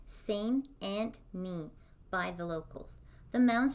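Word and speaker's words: St. Anthony: meadows it's near a town called saint anthony pronounced seine and me by the locals the mounds are covered in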